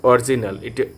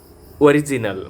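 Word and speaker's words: original: নট অরিজিনাল, এটি হবে অরিজিনাল মানে আসল।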